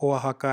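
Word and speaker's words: Oaxaca: अब ये ओआहाका, ये एक्स लिखा है बट इसका ये जो प्रोनाउंसिएशन है वो ओआहाका है।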